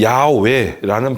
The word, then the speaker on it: 야훼: 구약성서에 기록된 인데요 어 그 히브리어는 여호와 이걸 정확하게 야외 애라는 발음이 좀 더 정확하다고 그래요 그러니까 im 후 아예